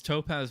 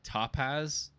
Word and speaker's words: Topaz: say it wrong, but it's Topaz Motorsports, but then they say like Topaz, like over enunciate the O for some reason.